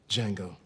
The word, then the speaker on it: Django: Django. Can you spell it? D-J-A-N-G-O. The D is silent.